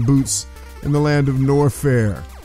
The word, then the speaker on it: Norfair: in the land of norfair rhymes with warfare and that's what metro